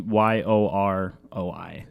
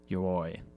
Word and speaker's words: Yoroi: It's called your it's really hard to say. Your ledger, Yori. Basically YOROI. Yeah. So however you say that, Yoroi. I think that's how you say it.